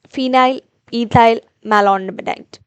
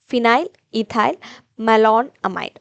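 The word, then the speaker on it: phenylethylmalonamide: types like phenobarbitol and Phile ethy Malon Amite Phile ethy malonamide sorry I just uh mispronounced the word so in this case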